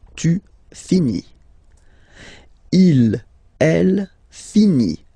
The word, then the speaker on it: finit: Il, elle, finit. So IT, final T not pronounced.